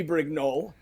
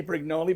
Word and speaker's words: Brignole: right so I mean theoretically it should be Brig no but it's right to say brignoli because that's what it's always been since I